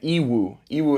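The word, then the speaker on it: Yiwu: are Canton fair and ew euu it's spelled y i Wu and you can literally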